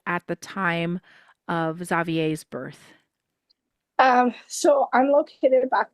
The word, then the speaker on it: Xavier: A lot of people say Xavier, and I have to tell them, no, it's Xavier. Yep. But we pronounce it the English way.